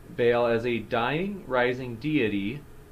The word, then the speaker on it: Baal: leading studies on is forgive me if i'm mispronouncing it baal or uh that's correct baal as a dying rising